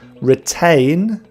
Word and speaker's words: retain: Retain, ain is the sound A, retain, and Britain, the sound is which is a schwa sound, Britain.